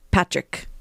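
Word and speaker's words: Pádraic: which is column and Patrick right Paddock Patrick yeah it's more like a very Irish pronunciation version of it yeah yeah and it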